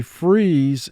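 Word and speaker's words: frieze: a building freeze and this has four sounds freeze mark the word freeze when i first pronounced this word most people would immediately associate the word with freeze as in being cold but this is a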